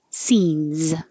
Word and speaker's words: scenes: Scenes, plural, ends with a looks like an S but sounds like a Z. Scenes.